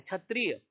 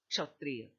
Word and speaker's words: क्षत्रिय: समाधान कर देते हैं बहुत ही आसान एक शब्द है क्षत्रिय और आपने सुना होगा का यह इसका सर्वसामान्य उच्चारण छतरी लेकर देते छत्रिय बट वह शब्द छत्रिय नहीं है क्षत्रिय थोड़ा सा उच्चारण वैध